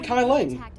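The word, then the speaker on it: Kai Leng: all the more what his name is literally kai ling that's literally that's how they pronounce it in the game i tried to tell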